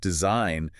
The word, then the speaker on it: design: and Latin roots, and we kept the silent G. Oh, phonetically, it makes no sense. Design. If you have never seen it written, you would never guess there's the G in there.